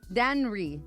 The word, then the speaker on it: Danry: Also, probably going to get you ejected and a lot of Danry. Sorry, that's how you say his name. Danry Vargas.